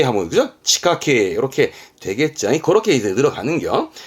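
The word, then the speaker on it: 地下茎: 있잖아요 요거 그러면 지하경 뜻은 땅속에 있는 줄기 발음은 그렇죠 치카케 하면 치카케 요렇게 되겠지 그렇게 들어가는 거야 자 사사라는 것은요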